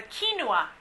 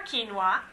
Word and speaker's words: quinoa: say in in fad right now is the quinoa how many of you all have heard of quinoa so we have some hands good for you I actually have given you a little recipe there for quinoa it can actually be used almost like a